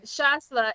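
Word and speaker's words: Chasselas: I had it except for the s yes shasla it is also um a grape that's popular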